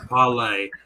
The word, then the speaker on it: parley: um just really quickly Paula is pronounced pale like Johnny Depp said it in Pirates of the Caribbean there is no other way to say parlay it's parlay you don't have parley you